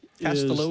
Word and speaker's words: Costello: Castello is how you pronounce it.